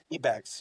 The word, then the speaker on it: eBags: company before you founded SodaPup, Yeah, which was eBags. Is that how I pronounce it? eBags. Yeah, it was an eBags.